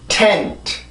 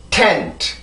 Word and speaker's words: tent: 자, 이렇게 발음이 되는데 이 단어에서 지금 특이한 점은 강세 음절의 시작이 T 발음이고요. 단어의 끝 혹은 음절의 끝이 또 T 발음이에요. 그러면 다시 발음을 해보면서 이 발음의 세기와 이 발음의 세기를 한번 보세요. 자, 발음을 해봅니다. tent. 다시 한번 tent. 자, 이렇게 발음이 되는데 여기에 있을 때는 혀가 강하게 눌려야 돼요. 반드시 안 눌리면 안 돼요.